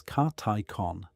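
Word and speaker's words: καθῆκον: The first is Cathicon often translated as appropriate action or proper function pronounced roughly as Karticon.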